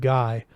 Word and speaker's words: Guy: the chef cried hey Guy what's this he said the mad's name as the the French do so it rhymes with free and then he didn't